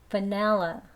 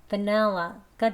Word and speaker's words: vanilla: Vanilla, vanilla가 되죠.